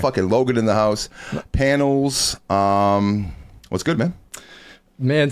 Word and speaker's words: PNLZ: panels and it again it's spelled p nlz um basically enunciated as panels but without the without the vbls and uh the name